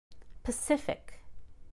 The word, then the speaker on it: Pacific: Again, stress one syllable to the left of ick or ickle. Atlantic. Pacific.